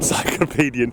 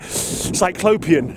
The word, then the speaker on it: cyclopean: looks kind of encyclopedian like cyclopedian cyclopean sorry not even pronounced it properly what's that yes okay